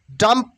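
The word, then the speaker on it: dumb: চিরুনি ডাম্প মিন বোবা ডাম B will be silent hair ডাম ডি ইউ এম ডাম ডি ইউ এম B will be silent hair only ডাম ডাম ডি ইউ এম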